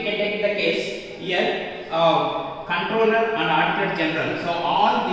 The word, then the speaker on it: comptroller: Controller and Auditor General of India. So we can call COMP, the spelling here, pronunciation controller, but whenever you can write controller, we can write COMPTROLLER, Controller of and Auditor General of India.